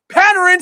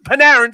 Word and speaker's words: Panarin: right who get paid to watch everybody yeah panin hire on everyone panarin sorry I know you get very butt hurt